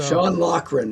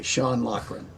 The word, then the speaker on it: Sean Loughran: Sean Loughran is how you pronounce his name, by the way. Sean Loughran.